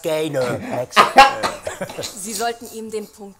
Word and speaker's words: Gaynor: It's pronounced Gaynor.